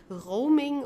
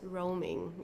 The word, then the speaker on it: Roaming: Roaming is an English word and for this reason we have to pronounce it the English way. Okay, roaming. So we don't say it as it would be in German like roaming or so it's roaming.